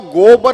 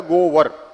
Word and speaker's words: गोबर: तो यह जो गोबर है इस गोबर का जो असली उच्चारण है वह है गोवर।